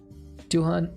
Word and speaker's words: Duhan: Duhan, Oh, it's pronounced doing without the G.